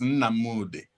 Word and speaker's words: Nnamdi: wearing it so the the the the ancient pronunciation is na moody look at that so that's what he was